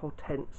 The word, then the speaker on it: Hortense: So, Aisha, and that's Hortense. Or Hortense, if you want to prefer the English pronunciation.